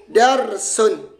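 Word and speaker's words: دَرْسٌ: Kayak tadi, dibaca darosa, atau darisa, atau durisa. Nah, ternyata dal, ro, sin ini punya wazan fa'ala atau fa'lun di sini. Wazan fa'lun. Maka dibaca apa? Darsun.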